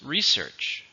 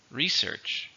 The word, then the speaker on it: research: pronunciation how many syllables research research to stress on the first they are doing a